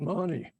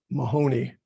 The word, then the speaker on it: Mahoney: In that office, he was under the direction of Marion Mahoney. It's spelled M-A-H-O-N-Y, but it's pronounced, according to all the experts, not Mahoney, but Mahoney.